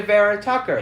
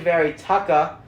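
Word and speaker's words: Vera-Tucker: that's my boy elijah vera tucker i said i said elijah very tucker on the podcast because i didn't know how to say his name i forgive you my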